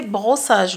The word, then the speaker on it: brossage: brossage vous leur dites quand vous avez de s d'accord qui se suivent prononceer un seul S ce par contre si vous avez le S entre deux voyelles ça c'est un Z ze donne un exemple